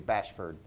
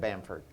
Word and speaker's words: Bamford: He called you Bashford instead of Bamford.